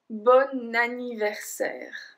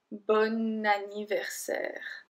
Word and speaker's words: bon anniversaire: Bon anniversaire. Bon anniversaire. So I don't say bon anniversaire. I say bon anniversaire. Because we link the bon et anniversaire, because anniversaire starts with a voyelle, it kind of activates